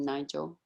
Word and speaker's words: Nigel: I mean, is that the way you say your name, Nigel?